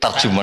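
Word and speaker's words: ترجمان: "Walla ahadukum," sebagian orang membacanya sebagai "turjuman." Dalam buku fusha resmi, tertulis " turjuman," tetapi di Indonesia, orang-orang menyebutnya "terjuman," jadi saya akan mengikuti kesalahan umum tersebut.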